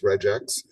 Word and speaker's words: regex: They use it as one short phrase because it's so many less syllables to speak than saying regular expressions. You just say regex.